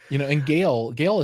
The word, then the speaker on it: Gaal: And Gale is spelled like Gaal or something. So that he gave them all kind of weird spellings, but Yeah. it just sounds like Gale, like a normal kind of name.